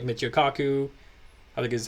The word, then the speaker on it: Kaku: okay but even you know people like Michio Kaku I think is how you say his name